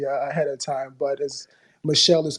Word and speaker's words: Michel: pronounce the last it's Michelle I was way off apologies apologies yeah it's the French version of Michael Michelle is that is